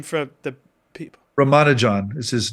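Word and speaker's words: Ramanujan: can you say his name for the people Roman John is his name Roman John I mean he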